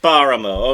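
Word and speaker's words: Páramo: It's Paramo. Okay, so it sounds better too.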